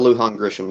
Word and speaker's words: Lujan Grisham: and forgive me because I'm sure I'll brutally mispronounce her middle name. Is it Lujan Grisham? Is that the Michelle Lujan? Michelle Lujan Grisham, yes, sir.